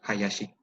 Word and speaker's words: Hayashi: compañero que se apellida Hayashi, Y de tan hecho, comunes. aquí en México hay Hayashis que lo pronuncian como Hayashi. Porque pues aquí en México la H no suena, pero en japonés sí.